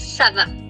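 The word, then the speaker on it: ça va: And yes, it's pronounced as Sava.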